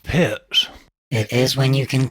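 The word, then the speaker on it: Pirc: what you played D6 the perk defense it's pronounced pits it is when you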